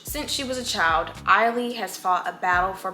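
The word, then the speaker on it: Ailey: two formidable black Americans, the revered choreographer Alvin Eiley, okay, got it, that's how you pronounce her name, and her great-grandmother Pearl, the descendant of enslaved Africans and tenant farmers.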